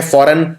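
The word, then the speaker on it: foreign: Again इसमें G आएगा, लेकिन बोलने के अंदर G नहीं आता, जैसे शैंपेन के अंदर था, इसमें भी G आता है फॉरेन के अंदर।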